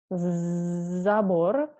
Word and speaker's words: забор: It's very important to say it correctly because it can, if you say it wrong, people cannot understand you sometimes. For example, zabor with this letter, zabor means fence, and sabor with this letter, sabor, means totally different. It is cathedral.